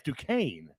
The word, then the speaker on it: Duquesne: I was going Duquesne, and I was playing Duquesne. Oh, I am saying it wrong. Yeah, it's Duquesne.